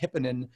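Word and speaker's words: Hypponen: But Miko, I believe his last name is pronounced Hipponen.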